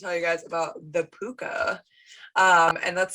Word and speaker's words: Púca: And that's spelled P-U-C-A with a little thingy. What is it called, Sarah? I thought it was called an umlaut. Umlaut is the two dots that the Germans use. It's a little like tick. Or it's spelled P-O-O-K-A.